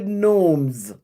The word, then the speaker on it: gnomes: If we're talking about garden, talk about the gnomes. G N O M E S. I never can pronounce it with that G. I don't know what the G is doing on it.